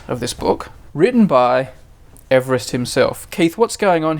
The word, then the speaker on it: Everest: Everest is named after a man named George Everest funny enough that's the correct pronunciation pronounced Everest so we have three things